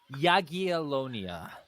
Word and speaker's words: Jagiellonia: By the way, it's Jagiellonia.